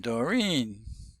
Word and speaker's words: Doreen: We got R begins with R, Roger, And Doreen. Doreen has an interesting way of saying her name. We don't say Doreen, we say Doreen. Stress is on the second syllable, the second vowel.